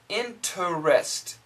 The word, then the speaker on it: interest: The same thing with interest. Interest, like bank interest, 18% interest. Interest. Interest. Interest. It's perfect, but usually we say interest.